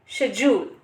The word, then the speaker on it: schedule: अगर हम ब्रिटिश की बात करें तो करेक्ट प्रोनाउंसिएशन है शेड्यूल, और अगर हम अमेरिकन की बात करें तो करेक्ट प्रोनाउंसिएशन है स्केड्यूल।